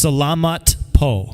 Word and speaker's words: Salamat po: I'm surprised that I was In able Tagalog, it's Salamat Po.